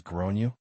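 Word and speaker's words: Gráinne: At this point, the alarm bells are ringing in my head because I've realized that the kid is called grain, generally pronounced as grown or thereabouts.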